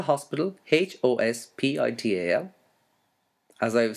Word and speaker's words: hospital: okay now spell hospital h-o-s-p-i-t-a-l as i have said h is silent so hospital and the